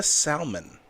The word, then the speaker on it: salmon: a Cohoa salmon.